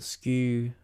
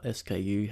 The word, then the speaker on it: SKU: focusing on here is the skew or SKU however you want to pronounce it and the on hand